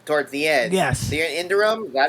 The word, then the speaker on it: Iridium: The Indurium, is that how you pronounce it?